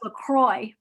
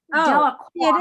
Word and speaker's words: Delacroix: Okay, all right, just if Yeah, you're, I thought it was pronounced LaCroix. Delacroix it is.